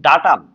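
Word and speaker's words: data: much সাদি ইসলাম thank you very much দেখেন ডাটা ডাটা এইযে ইউএম আছে এটাকে বাদ দিয়ে দেব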